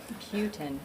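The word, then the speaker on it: Peutin: I know I'm going to mispronounce it. Putin, okay.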